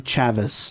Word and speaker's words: Chavis: My name is Chavis. It's like Travis, but with a CH.